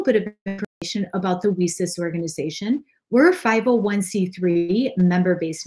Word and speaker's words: WiCyS: We often go by our acronym WiCyS, W-I-C-Y-S, and we pronounce it WiCyS like we sisters because that's exactly what we are.